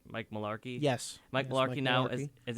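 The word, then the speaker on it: Mularkey: was out Tuesday Mike malar Malarkey did I pronounce it right Mike Malarkey yes Mike Malarkey now as interim head coach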